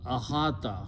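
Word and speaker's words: إحاطة: in the beginning and when you pronounce that it becomes ahata because vow sound changes into alif so ahata means to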